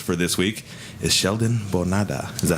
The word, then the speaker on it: Bonada: And our special guest for this week is Sheldon Bonada. Is that how you pronounce it?